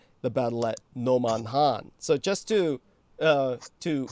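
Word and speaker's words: Nomonhan: at Noman Han so just to uh to express to you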